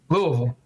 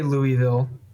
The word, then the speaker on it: Louisville: I mean l yeah l uh Louisville Lou Louisville well how to say this uh you can say Louisville or Louisville but what why would you put